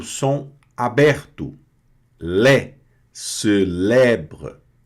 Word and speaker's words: célèbre: E o E grave tem o som aberto, Lé, célèbre, célèbre. E esse E aqui não pronuncia, tá?